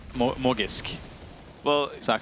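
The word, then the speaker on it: Magisk: So someone messaged me on Reddit, Halvor, and said that Magic, you say his name, properly, the proper way to say his name is Morgisk.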